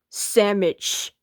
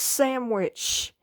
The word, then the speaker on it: sandwich: it's pronounced C whatever try to say sandwich sandwich there's no M it's sandwich yes there is no